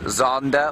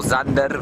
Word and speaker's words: Xander: He is known as Zander or Zander by his family. That's spelled Xander.